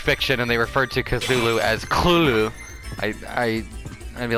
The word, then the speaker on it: Cthulhu: really I don't even I just say Cthulhu it seems to be the general accepted way it said I think is I'm the scholar like a literary scholar what's his name St Yoshi it's like an HP Lovecraft expert and he pronounces it clue and I'm just like that's the dumbest thing I've ever heard but okay cool ooh